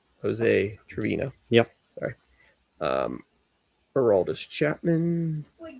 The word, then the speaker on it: Trevino: Triviano. Jose Trevino.